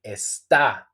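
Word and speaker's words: está: where is esta again you will find the accent so you have to say esta with the accent okay the emphasize and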